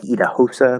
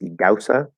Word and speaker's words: Idahosa: my favorite uh doubts it looks like idahosa but it's pronounced iguasa i've learned a lot